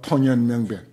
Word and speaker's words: 통연명백: 통연명백. 통이라고. 우리 무슨 청룡동, 남산동 할 때 동하지만은 여기서는 통이라고 발음해.